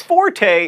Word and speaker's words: forte: even bother saying it Forte is an Italian word that means loud your fort is something that you're good at or the strongest part of a sword like one of my